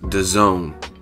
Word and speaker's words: DAZN: streaming partnership with a company called Daz in pronounced the zone right and the zone